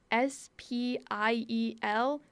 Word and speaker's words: spiel: do i spell that s-p-i-e-l that doesn't sound right it's it's pronounced spiel shouldn't it be have an sch in there somewhere someone needs to fix